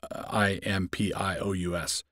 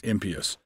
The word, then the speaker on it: impious: word impious i-m-p-i-o-u-s and it's one of those words that's pronounced properly as impious but you always have to qualify yourself because when you pronounce a word like that correctly everybody thinks that you don't know that you're pronouncing it wrong impious is the right way to pronounce it impious impeach so people